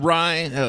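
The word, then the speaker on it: Rei: Austin Rye, last name spelled R-E-I, pronounced R-Y-E, like rye bread.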